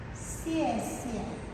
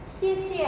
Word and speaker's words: xie xie: Xie xie. Oke? Xie xie artinya terima kasih, simo, makasih.